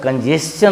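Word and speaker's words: congestion: अब यहाँ भी देखिए एस और आई एन के बीच में टी था, उच्चारण चौ का हो गया है।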